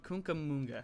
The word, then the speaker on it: Cucamonga: So this is welcome to Camp Cucamonga. There we go. That's the correct pronunciation.